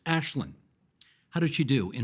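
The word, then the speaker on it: Aislinn: The MPP's name is Ashlynn Clancy viewed out to spell this for you because her name is spelled AISLYNN it's pronounced Ashlynn.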